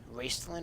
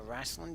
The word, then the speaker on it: Raistlin: anybody's familiar Renee myself Raistlin or wrastlin depending on how you would pronounce it mais you simply because